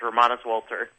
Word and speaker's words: Romanus Wolter: You're you're pronouncing it exactly correct. I was about to say you're one of the first people that that did it exactly correct. It's Ramas Walter.